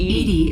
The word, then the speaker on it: EDI: is a jar why are you named Ed Ed is the phonetic pronunciation of Eed that is an acronym for